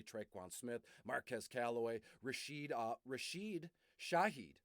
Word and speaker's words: Shaheed: Smith, Marquez Callaway, Rashid Shaheed, and it's spelled, they're both Rashid, Rashid, and then the last name Shaheed, Saheed. So Rashid, Shaheed.